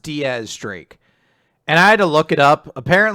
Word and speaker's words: X Drake: than ever yep the fight's going on uh x drake is there and everyone loves him i had somebody really angry because they're like it's not pronounced x-drake it's pronounced diaz streak and i had to look it up apparently